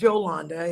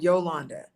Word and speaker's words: Jolanda: My name is Yolanda. It is not Yolanda.